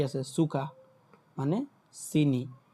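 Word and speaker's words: Zucker: এই যে এখানে একটা কি আছে, সুকা, মানে চিনি, এ আর লাস্টে আছে, সো আর এর উচ্চারণটা আর হয় না, তখন আ হয়, সুকা, সুকা, হ্যাঁ।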